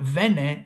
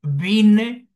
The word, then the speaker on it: vine: It's not vene, sino vine, viniste, vino. Again, it's not vinio, it's vino.